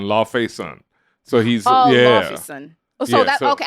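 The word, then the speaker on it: Laufeyson: start with loki and how you pronounce this loss because vermont pronounces it differently lofsen well it's loffy is is his father and so it's odin's son thor odinson because he's odin's son la fay son so he's yeah so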